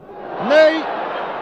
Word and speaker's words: Ney: Cela s'écrit comme notre maréchal, Ney, mais ça se prononce Ney, Ney, que voici sur votre